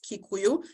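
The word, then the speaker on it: Gĩkũyũ: uh as I mentioned umekuyo pronounced kikuyu like that is a Bantu language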